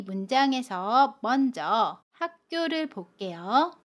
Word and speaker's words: 학교: 함께 알아볼게요 대학교 입학을 축하해요 이 문장에서 먼저 학교를 볼게요 학교 4 학교 라고 발음합니다 아침 기억이 다음에 오는 자음 기억을 만나면